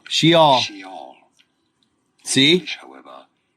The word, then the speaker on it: Sheol: Sheol. Pronounce.